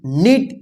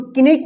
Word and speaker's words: knit: देखिए यहां पे KNIT, इसको क्या पढ़ेंगे, नीट। इसको किनिट नहीं पढ़ा जाएगा। देखिए यहां पे के जो है ना साइलेंट रहेगा, ठीक है, तो इसको क्या पढ़ेंगे, नीट।